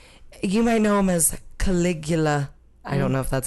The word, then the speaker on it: Caligula: germanicus yes okay you might know him as caligula i don't know if that's how you say